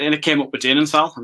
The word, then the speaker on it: Dinenthal: Is that the correct pronunciation? Dinenthal, that's right, yep.